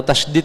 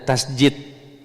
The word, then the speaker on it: tasydid: Standar membaca al-fatihah itu Pak, tasydidnya, tahu tasydid Pak ya? Kalau di kampung orang kadang menyebutnya tasjid, ya, itu salah nyebut.